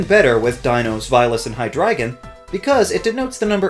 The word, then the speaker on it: Hydreigon: Realizing the pronunciations in their native language, calling it Hydreigon is especially bad. It's a combination of Hydra, Dry, and Dragon, so it's Hydreigon.